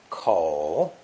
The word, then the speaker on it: 口: a mouth or opening pronounced third tone coal coal as a reticle this